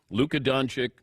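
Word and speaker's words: Luka Dončić: is talking about this is that how you pronounce his name I said yes it is Luca donic traded to the Lakers and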